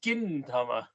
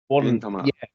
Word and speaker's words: Gintama: But he's pronouncing it like it's a J, but it's spelled with a G. He was a fucking twat. It's Gintama. Gintama.